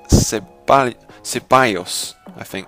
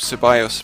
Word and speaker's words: Ceballos: by the name of Ceballos, I think that's how you pronounce it, because he is Spanish, so the double L is pronounced a bit differently because it is Spanish.